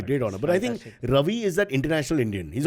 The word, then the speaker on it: Ravi: would introduce himself as my name is Ravi like Ravioli so that they could so that they could get the pronunciation Ravioli the food you